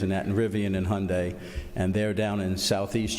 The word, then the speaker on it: Hyundai: how your day and did I pronounce it right Hearn today Hyundai Hyundai okay well that's I couldn't